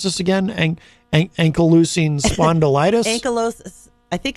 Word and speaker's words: ankylosing spondylitis: It says here, Mars suffers from, how do you pronounce this again? Ankylosing spondylitis? I think it's ankylosing spondylitis.